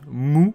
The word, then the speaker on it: MW: du manga osamu tezuka ce manga mw qu'on prononce mou commence après publication nous